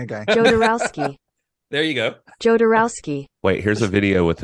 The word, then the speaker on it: Jodorowsky: if you if you Google it how to pronounce jarowski uh it is definitely the the thing is saying jarowski with a J yeah with a J okay